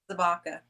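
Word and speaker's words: Zabka: How you pronounce his last name again? William what? Zabaka.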